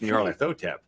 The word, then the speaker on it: Nyarlathotep: Inner Light says Nyarlathotep isn't really hard to say. Right. That's what I thought. It's just Nyarlathotep. Right. when you break it down into syllables. There's just a question of whether or not the Y is pronounced as a vowel or a consonant, depending on which version of the Necronomicon you are using.